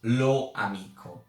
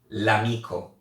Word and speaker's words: l'amico: No, you have to pronounce it as a unique word. So in this case, l'amico.